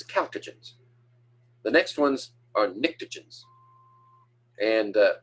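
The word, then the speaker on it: pnictogens: the next ones are nicktogens and starts with a p the p is silent p and i c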